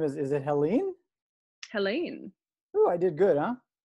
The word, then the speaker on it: Helene: and the last name is is it helene helene oh i did good huh you did very